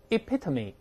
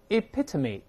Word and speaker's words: epitome: 注意发音，大声 epitome epitome 常见词了，那缩影